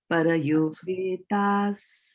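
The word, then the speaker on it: परयोपेताः: Parayopetas. Right? Parayopetas. So para upetas becomes parayopetas.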